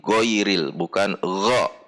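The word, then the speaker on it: غين: at the makhroj point so that it becomes goin instead of ghoin, but go is a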